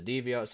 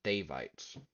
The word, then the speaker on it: Devites: Uh, when you get to that, by the way, the way you pronounce the Deviots is wrong. Is pronounced Devites. Devites.